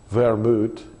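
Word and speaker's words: Wermut: And the Dutch is wermoet, and Old High German is Were mauta or mauta, and the German word today is vermut. They pronounce their W's as a V.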